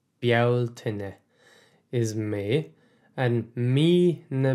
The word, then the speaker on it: Bealtaine: So let's slow down a little and do the pronunciation. Bealtaine. Bealtaine is May, and Mi na Bealtaine is the month of May.